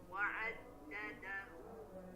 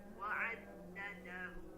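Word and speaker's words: عدده: Namun ketika dalam keadaan waqaf seperti ini, maka ini dibacanya sama seperti ta marbutoh ini jemaah, yaitu dibaca ha dhamir atau ha bulat sukun. Wa'addadah, bukan wa'addadahu.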